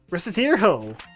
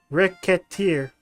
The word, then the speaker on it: Recettear: it's not that but well that is decided reset hero where's it here mispronounce it even slightly and rickettiere rack kit this just gonna be more absolutely difficult than I originally suspected I fear racketeer huh and so a fairy sound into my